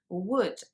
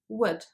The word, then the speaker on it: would: and could and sometimes english learners tend to pronounce them as if there was a double o sound in there but there isn't so sometimes people kind of pronounce it as would or could but actually those sounds are much shorter so it's just wood could and you can hardly hear the vowel sound there it is there